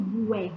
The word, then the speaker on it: guerra: Os grupos Q e GU também são dígrafos, mas eles só são dígrafos sempre que a letra U não for pronunciada. Exemplo, guerra. Quando eu falo guerra, lembra que no vídeo que eu coloquei para vocês, ele falava muito sobre isso. Não é guerra, é guerra. Então, por isso, esse GU,